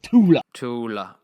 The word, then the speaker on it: Thule: That's how you say it. I asked them exactly how you say it. It's Thule. Thule. I've been saying it wrong literally constantly.